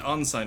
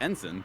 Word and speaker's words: ensign: No, Tuzak is an on sign right now. My older brother is a midi. On-sign. Yes, that's how it's Okay, I've always pronounced. heard it pronounced ensign.